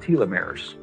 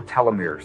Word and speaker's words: telomeres: of DNA that are called telomeres or telomeres they're pronounced both ways uh uh they become